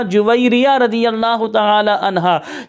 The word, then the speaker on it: جویریہ: رضی اللہ تعالی عنہا۔ اچھا، عرف عام میں اس لفظ کو جویریہ پڑھا جاتا ہے، لیکن تلفظ کتابوں میں ہم نے یہ پڑھا جویریہ رضی اللہ تعالی عنہا۔